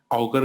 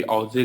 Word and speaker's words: Auger: इसको ऑगर कहते हैं, कभी ऑजे कहते हैं, ऐसे कई तरह से इसको प्रोनाउंस किया जाता है.